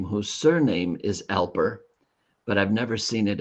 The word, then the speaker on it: Alper: can't I can't say that name g yeah Alper now Alper I have never heard that name Alper before